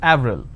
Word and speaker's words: Avril: it's a month right in French it's pronounced it Avril the name Clement is